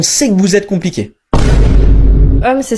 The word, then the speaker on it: homme: Homme, c'est s'écrit avec un H mais qui ne se prononce même pas.